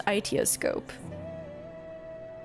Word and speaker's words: Aitiascope: So I think it's Aitiascope. Aitiascope. It's not Aisha.